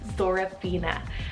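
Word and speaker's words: Zoraphina: girls side it's the name zorofina cell z-o-r-a-p-h-i-n-a sorophena how gorgeous is that and it means white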